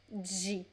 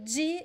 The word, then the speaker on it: de: people would say d but the most common pronunciation is g g okay this is the most common one so g is neutral as every preposition is neutral but